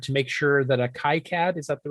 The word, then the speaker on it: KiCad: that he's ordered to make sure that a kai cad is at the right pronunciation schematic works properly now this is part of a thing called the bit preserve project kicad yes yeah anyone will tell you different it's